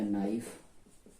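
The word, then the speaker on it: knife: के बाद एन, तो यहाँ पर हम के को ना पढ़ के एन से पढ़ेंगे, ये हो जाएगा नॉक, ये हो जाएगा नाइफ और ये हो जाएगा नॉट।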